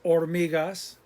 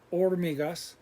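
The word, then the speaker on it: hormigas: vocab water agua ants or migas remember h is silent or migas insects insectos dust polvo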